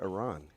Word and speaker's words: Iran: know I know it won I know it's pronounced Iran now I don't know if you saw Iranians Iranians that's what I that's why I don't understand the pronunciation it's Iran and I want to get it right I